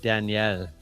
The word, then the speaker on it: Daniel: My French name in school was Daniel, but they pronounced it Danielle, so it sounded like I was a girl.